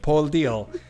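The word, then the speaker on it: Paul Dill: Sí, está bien pronunciado. Paul Deal. Que se escribe Bueno, la gente no... se escribe Paul. Schweinsteiger. Se escribe Paul D-I-L-L, ¿ya?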